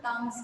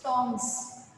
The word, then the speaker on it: tongs: That word is not tongues, it's tongs. Tongs.